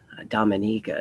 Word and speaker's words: Dominica: Dominica Dominica he had eloquently put to me Dominica is how you pronounce it where that Halo is getting really